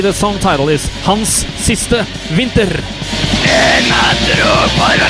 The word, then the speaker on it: Hans siste vinter: Correct pronunciation of this song in Norwegian, or what do I pronunciation? The way it's supposed to sound, if you wanna say the song title, is Hans siste vinter.